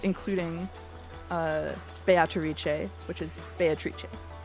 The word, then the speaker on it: Beatrice: how to pronounce uh beatric because not only will I acknowledge that the Japanese uh actors are saying biche I will say that uh the Japanese pronunciation is based on Italian pronunciation which I checked ahead